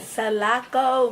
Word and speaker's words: Salako: don't want to jack up the pronunciation. Salako music.